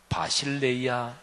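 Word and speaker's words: βασιλεία: 교회를 신약성경 원어 헬라어로 발음하면 에클레시아라고 발음하는데요, 하나님 나라는 바실레이아, 이렇게 발음합니다. 그래서 바실레이아, 하나님 나라는 영원해요.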